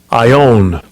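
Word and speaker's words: αἰών: you go to it this is the pronunciation Strong's G 165 I own I own as in I own your ass it says forever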